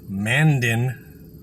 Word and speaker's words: Mandan: Right now, I am sitting in, I believe it's pronounced Mandan, North Dakota.